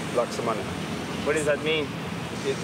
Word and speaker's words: laksamana: Uh but the actual way to pronounce it in Bahasa, which is the Malaysian language is laksamana.